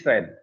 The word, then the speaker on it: Foehn: It is Fan. O is silent here.